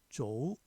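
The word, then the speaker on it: 昨: 중국 발음으로는 리을, 기역, 비읍, 받침, 입성이 없다. 작자도 쪼. 어제 작도 쪼우. 기역, 받침 없죠.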